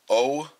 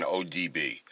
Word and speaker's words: OBD: Okay, so just grabbing my phone, going on Google, and typing in GM OBD1. I keep saying it wrong. I keep saying ODB. OBD.